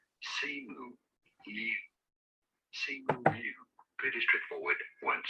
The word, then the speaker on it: Simu Liu: So, how do you pronounce his name? Simu Liu.